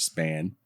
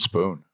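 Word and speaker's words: Spahn: It's spelled like that, but it's pronounced Spoon.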